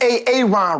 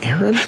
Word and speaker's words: Aaron: still here it's over go home where is ay-ay-ron right now no way Aron huh here why